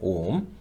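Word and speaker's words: 옴: 오음이라고 읽겠다 그 얘기야. 오음 그렇죠?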